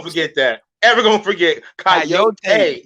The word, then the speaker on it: coyote: That's how they say it in Young Guns, bro. Yeah, that's how in Spanish you say coyote. Coyote. I mean, that's what it is. You guys just messed it up.